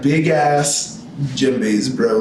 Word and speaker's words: djembe: I used to play the djembe drum for him sometimes. Oh, cool. The what? And djembe drum. Okay. How do you spell that? DJEMB. The D is silent, apparently.